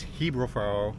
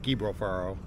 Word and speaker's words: Gibralfaro: my pronunciation from earlier it's Hebrew Pharaoh not gibral Farrow there are actually guide